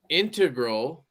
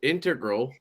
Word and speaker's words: integral: This knife right here, the XLC, is a titanium integral. Kevin, I said it right. Integral.